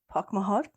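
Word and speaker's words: póg mo thóin: one okay see if I say it right park my heart yeah Pokemon yeah we saying that all the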